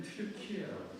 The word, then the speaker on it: 튀르키예: 그러면 터키를 지금 우리는 터키 영어식 발음이에요. 그래서 원래는 튀르키예라고 시작해요.